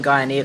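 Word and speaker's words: Guyenet: Is it Stephen Guyanet or Stephen Guyanet? I never remember how to pronounce his last name. DNA, like DNA, but with a G.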